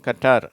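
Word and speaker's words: Qatar: இக் என்ற உச்சரிப்பைத்தான் தருகிறது qa சேரும்போது க என்ற உச்சரிப்பு தான் வருது உதாரணத்துக்கு கட்டார் அப்படின்றாங்க கட்டார் அப்படின்னு ஒரு நாடு இருக்குது அதை வந்து நம்ம இது மாதிரி qa வரதுனால அதை நம்ம க அப்படின்ற உச்சரிப்பை தான் அதுக்கு தருகிறோம் அடுத்த வரிசை சா ட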